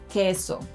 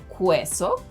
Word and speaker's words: queso: In these cases, letters q and g silence letter u, but they need it to make those k and g sounds in front of letters e and i. If letter u were pronounced in these words, they would sound like qüeso, qüiero, güerra, and güiso. But those are words that don’t exist in Spanish.